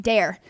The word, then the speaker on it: Daire: Still pronounced Dare.